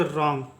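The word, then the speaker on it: wrong: प्रकार से नेक्स्ट देखिए यहां पे डब्लू जो रहेगा वह साइलेंट होता है ठीक है इस शब्द में डब्लू आर ओ एन जी में हमेशा डब्लू क्या होता है साइलेंट होता है तो आर का उच्चारण करेंगे र र नज का उच्चारण करेंगे ंग तो इसको पढ़ते हैं रंग इसको पढ़ते हैं हम लोग रंग ठीक है उसी प्रकार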